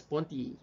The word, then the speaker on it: Merleau-Ponty: It's pronounced as Ponty.